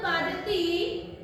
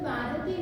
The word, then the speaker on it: बाधते: वहां से जवाब आया स्कंद बाधती नहीं, बाधते जो तू कह रहा है, क्योंकि वहां पर उन्होंने बाधती की जगह बाधते की जगह बाधती कर दिया, जो उच्चारण होना चाहिए गलत कर दिया।